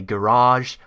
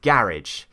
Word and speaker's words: garage: So the obvious things are, for example, they say garage, I say garage.